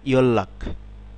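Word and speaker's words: 연락: যেমন খেয়াল করুন, এটি যদি আলাদাভাবে আমরা পড়ি, ইয়ন রাগ, কিন্তু শব্দে যখন আমরা পড়ব তখন হবে ইয়ল্লাক, ইয়ল্লাক।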